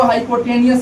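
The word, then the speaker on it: hypotenuse: कौन को हाइपोटेनियस भी बोला जाता है, हाइपोटेन्यूस बोला जाता है, हाइपोटेनियस ऐसे पढ़ा जाता है, हाइपोटेनियस।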